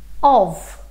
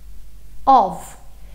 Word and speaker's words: of: but first just pay attention to how I'm pronouncing this word of of simple comment or I'll kill me Heidi of